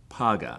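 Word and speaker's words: פגע: intercession is the Hebrew word translated intercession is paga I'm gonna spell it out PA G H a so the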